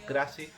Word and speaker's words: Craxi: interpretar, pero esto ya, Beato Santissimo Craxi, o como lo pronunciéis vosotros, Crassi.